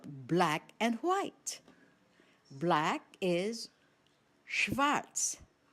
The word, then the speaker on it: schwarz: Black is schwarz, schwarz. The spelling? S-C-H-W-A-R-Z. Remember, S-C-H, this combination of consonants is pronounced as sh, just like the initial sound of the English word shower.